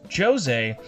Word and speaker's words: Jose: Next up is Jose, which in the game is pronounced Jose, but for this review, until the end of time, he will always be referred to as Jose.